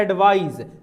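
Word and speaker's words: advise: स दंती स होता है ना दंती स वो सौंड और ये है एडवाइस लास्ट में ज साउंड निकालेगा ठीक है तो दोनों का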